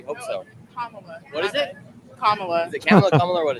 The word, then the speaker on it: Kamala: Kamala. And you think she'll win? Actually, today you did say it wrong cuz Kamla Harris pronounces her name Kamla.